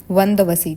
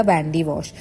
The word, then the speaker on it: वंदवसी: देखो हमारे यहाँ इसको बोलते हैं हम वंदवसी, ठीक है, तमिलनाडु में, लेकिन वो लोग इसको प्रोनाउंस नहीं कर पाते थे तो इसका नाम रख दिया वैंडी वॉश।